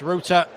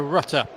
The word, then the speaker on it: Rutter: And he does like it pronounced Ruta as opposed to Rutter.